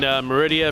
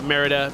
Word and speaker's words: Merida: we saw that Maleficent was an announced and Meridia from Brave was announced Merida I for pronunciation I'm a genius tell us more about